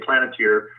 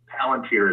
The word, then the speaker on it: Palantir: Okay, you're saying that Dyncorp links to, I believe that the pronunciation is Palantir, correct? Palantir. Sometimes I say Planeteer. Palantir is correct.